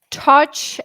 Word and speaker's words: Tatsch: name for those listening touch a scotch whether you drink it or not Scotch touch Scotch touch got it got it